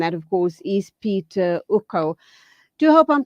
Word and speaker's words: Ucko: In English, a U is U, so I generally say Ucko. But a lot of Okay. people pronounce the U as you did as U, and I'm happy with Ucko. In Afrikaans, you might say the U is U, so it's Ucko. But Ucko in English, but I'm happy.